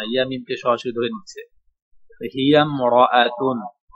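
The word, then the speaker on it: امرأة: হাজের হি ইয়ামিম জবর ইয়াম তখন এই হামজার উচ্চারণ হচ্ছে না ইয়ামকে সরাসরি ধরে নিচ্ছে হিয়াম মরাতুন সে একজন মহিলা হিয়াম সে একজন মহিলা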